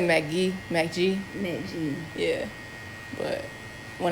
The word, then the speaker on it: Mk.gee: How do you pronounce it? He said Mk.gee.